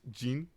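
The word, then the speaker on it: 人: This last one is actually a kanji, which means person, and it's pronounced Jin, Jin, in this case.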